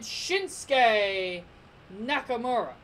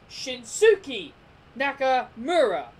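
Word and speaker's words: Shinsuke Nakamura: between AJ Styles and Shinsegae Nakamura or as how it should be pronounced as shin Suki Nakamura as how it should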